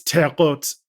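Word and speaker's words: Terre Haute: that that it's it's it's teot which is the French word for high ground oh yeah you got to pronounce it like that or else people will know you're not from here that's fine it's fine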